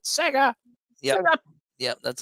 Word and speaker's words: Sega: the chat room 1991 you have to pronounce it Sega yeah yep that's how